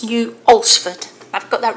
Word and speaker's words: New Alresford: collection and I've had to check how you pronounce the name of the village, and I believe it's New Alresford. I've got that right, Heather? Yep, is that okay? New Alresford.